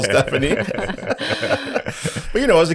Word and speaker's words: Stephanie: that name you're like why is there a p in there then you got to try and explain why the p is silent but yes should be